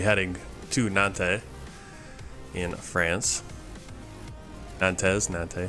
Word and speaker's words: Nantes: Nantes. Nante. I want to say Nante because I usually drop the S.